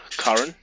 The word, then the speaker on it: Curran: How do you pronounce his last name? Oh, Curran.